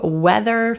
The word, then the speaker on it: whether: Then we add that H after the W, weather. This is a conjunction often used to talk about uncertainty. And that H is totally silent.